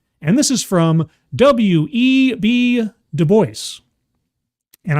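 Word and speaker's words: Du Bois: this is from web deoy and I'm saying it correctly because in the past I did embarrass myself by saying DUIs but it's e web de who is a very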